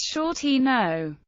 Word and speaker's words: Sciortino: Asked how to say his name, he told the Literary Digest it was Sciortino.